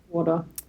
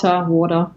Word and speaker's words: water: Does that sound weird to you to do the flap T there? It does a little, yeah, like water. Yeah, I mean, we say it both ways. I think when I'd say it differently depending on the day, either water or water.